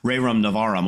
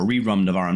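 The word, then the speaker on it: Rerum Novarum: Ray Ram Navarum or Reum Navaram depending upon how you want to pronounce it that people are talking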